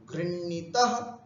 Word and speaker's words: गृह्णाति: गृह्णाति, गृह्णीतः, गृह्णन्ति, गृह्णासि, गृह्णीथः, गृह्णीथः, गृह्णामि, गृह्णीवः, गृह्णीमः। उच्चारण कैसे करेंगे इसका, गृह, गृह, हलंत है, गृह, और णा पूरा है, तो गृह और णाति, गृह्णाति, गृह्णीतः, गृह्णीतः, गृह्णन्ति, गृह्णासि, गृह्णीथः, गृह्णीथ, गृह्णामि, गृह्णीवः, गृह्णीमः।